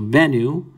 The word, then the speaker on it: Bennu: to complement the new so bennu right you're pronouncing it as b n and this is ooh so this complements this and this complements that so ben knew waiting from